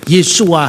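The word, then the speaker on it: Yeshu: Kalau kita mengeja pakai bahasa Ibrani klasik ya Yesua Hamasiah. Kalau pakai bahasa Aram ya Yesu Mesiha. Meskipun tertulis Yesua itu dibaca Yesu Mesiha.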